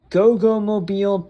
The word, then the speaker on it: Goggomobil: With the, I have a pronunciation thing here. It is a Goggomobil TS400 Coupe.